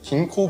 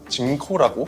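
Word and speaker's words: ginkgo: 은행나무의 학명이 긴코 빌로바이고요. 원어권에 따라서는 앞부분을 긴코라고 발음하기도 하고 징코라고 발음하기도 합니다.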